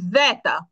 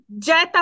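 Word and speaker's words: zeta: ভু ভু আর হচ্ছে জেতা জেতা ওকে এখানে জ্যাতা বলবেন না জেতা উচ্চারণ নাই এটা জা জেতা জেতা জেতা এই জাত তো বাংলায়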